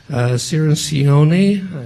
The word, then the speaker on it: Cirincione: table there is Joe Cirincione I think I may have mispronounced that he's told me it's like minestrone so I tried to remember